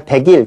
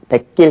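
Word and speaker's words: 뱃길: 백길, 우리가 백일 그렇게 발음 안 하죠? 백길 그렇게 발음을 합니다.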